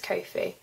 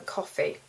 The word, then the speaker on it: Ko-fi: I think that's how I pronounce it. It's either Coffee or Ko-fi, but I think it's Ko-fi.